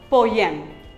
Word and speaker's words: poem: It is not poem, it is poem. Poem, poem. Here's another word for you to pronounce.